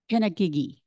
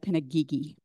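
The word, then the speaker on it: Pinagigi: word for thank you pinag gigy the white woman who said it actually said it wrong and then the hunk man who was there said pinag Gigi um and so that's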